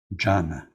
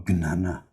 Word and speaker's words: jnana: Jnana or jnana, doesn't matter.